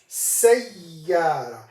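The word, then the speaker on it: سيارة: Sayyara. This is how we pronounce it.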